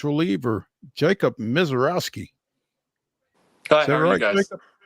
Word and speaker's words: Misiorowski: are joined now by Nashville Sounds reliever Jacob MISIOROWSKI.